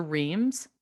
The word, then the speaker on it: Reims: still planning our little trip to um to reims or to france as i have learned it is pronounced um and i am so thankful for